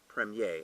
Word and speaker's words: Premier: one called Premier Cru it's actually kind of spelled premier but pronounced Prem yeh and Premier Cru would